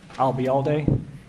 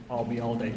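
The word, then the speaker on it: Ayalde: okay what was that if you uh remember the phrase I'll be here all day and drop it here I'll be all day you got it and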